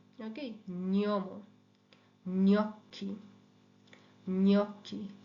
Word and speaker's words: gnocchi: যেমন GNO, GNO, GNO, GNA, GN এর সাউন্ডটা হয় ঞ। এটা একটা যেন দন্তন্যটা একেবারে তালুর সাথে লাগিয়ে কিছুক্ষণ তারপর এটা ছাড়তে হবে, নিয়ম। ওকে, নিয়ম, gnocchi, gnocchi, legno, legno, Spagna, lavagna, gnomo, gnocchi, legno, Spagna, lavagna।